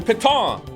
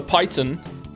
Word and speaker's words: piton: That mouse made fun of me for not pronouncing properly because it's a French word. The piton. The piton. You can have more pitons. Or as I said, the python.